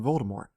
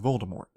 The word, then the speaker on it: Voldemort: It also brings to mind Voldemort. J.K. Rowling, which is another name victim of this concept, has said that she intended the T to be silent, but everyone read it pronouncing the T.